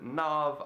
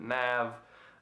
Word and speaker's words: NAV: Other people pronounce it NAV, I pronounce it NAV, and this is his self-titled mixtape.